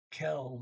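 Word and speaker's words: kvelden: are shopping and shop that's k-v-e-l-d-e-n doesn't bounce the d and he doesn't pronounce his v so i take that kv says kel and for evening okay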